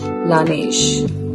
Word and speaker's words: Laneige: So I have Laneige. I don't know if I'm pronouncing it right. Din mundu actually google chesa correct ga ela pronounce cheyali ani cheppi. So it was Laneige.